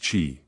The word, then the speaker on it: qi: They called this life force qi, pronounced qi.